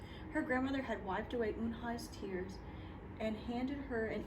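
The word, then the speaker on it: Unhei: "Eun-nae?" the girl asked, scrunching up her face. "Eun-nae," some kids chanted. No, it's spelled U-N-H-E-I. It's pronounced Eun-hai.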